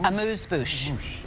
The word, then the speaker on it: amuse-bouche: Amuse-bouche.